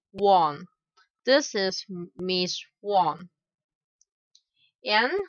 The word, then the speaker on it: Wang: The pronunciation of Wang in English is Wang.